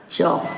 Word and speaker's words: chalk: Next, with L silent words, they are half, calf, halves, calves, talk, walk, chalk, folk, so on.